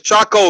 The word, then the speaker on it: Chaco: Nigga, you know it's Chaco. You see a CH right there, nigga, not Coco.